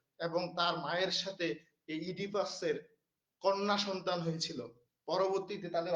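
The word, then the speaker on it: Oedipus: ইডিপাস রেক্স ইডিপাস রেক্স এটা আবার অনেকে ভুল করে উচ্চারণ করেন না ওডিপাস এটা হচ্ছে ইডিপাস এই ও এর উচ্চারণটা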